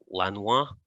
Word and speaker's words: Lanois: And obviously Daniel, is it Lanois?